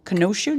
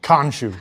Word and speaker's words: Khonshu: Khonshu? Do you pronounce the K? Khonshu.